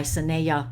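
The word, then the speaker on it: Sanaya: this book yet is called spiritual growth by sinea roman okay it's spelled sun neos s-a-n-a-y-a roman excellent book excellent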